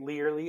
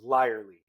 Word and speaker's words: Lierly: yourself Nathaniel so start with thank you for pronouncing it learly apparently that's the correct German pronunciation but my grandma would not let me live if I did not correct it as larly it is exactly how no one wants to